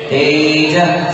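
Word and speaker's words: तेजः: तेज के विसर्ग का भी बराबर उच्चारण होना चाहिए, तेज स्फुरन् मणिषु याति यथा महत्वम्।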